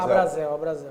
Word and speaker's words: Abracel: É Abracel ou Abrazel? Abrazel. Abracel, pronto.